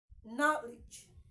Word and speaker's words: knowledge: do you understand me knowledge knowledge knowledge knowledge knowledge I did not say knowledge not knowledge knowledge okay the K in knowledge is silent even though there is presence of K in it you don't say no